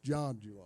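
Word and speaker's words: Zhang: julong yanchu long but it is spelled z-h-a-n-g i'm like him i thought it would be zang but it's john john okay well we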